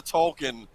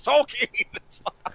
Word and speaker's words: Tolkien: well it's funny because we all pronounce the tolkien like for like decades and then they finally say no it's tolkien okay i'm old then